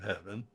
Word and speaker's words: heaven: with the meaning of heaven the problem is almost always with the how many syllables are we to speak Shakespeare almost always says a one syllable heaven American say two syllable heaven and this word usually